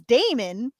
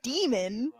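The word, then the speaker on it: Daemon: is onyx but uh the main character his name is d-a-e-m-o-n which i would pronounce as damon yeah yeah i call the the person narrating it calls him demon and i'm like i'm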